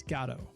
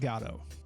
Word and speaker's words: Godot: And according to Beckett, the proper English pronunciation of is Gato.